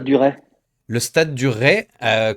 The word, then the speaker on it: Ray: Le stade du Ray, qu'on prononce, je l'ai appris juste avant l'émission, le stade du Rail.